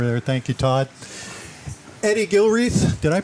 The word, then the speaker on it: Gilreath: Eddie Gilre, did I pronounce that right? Yes, you did. It's Eddie. Yes, Eddie Gilre.